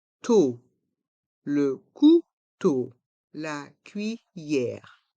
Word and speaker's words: cuillère: to le couteau la cuillère on entend bien le son ye dans le mot cuillère